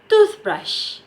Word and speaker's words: toothbrush: we have brush so it becomes toothbrush okay so distress in the word tooth alright so next example